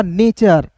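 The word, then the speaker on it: nature: नेचर ठीक है सी।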